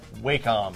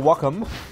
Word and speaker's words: Wacom: And the resounding comment from you guys was, hey, what about Wacom or Wacom?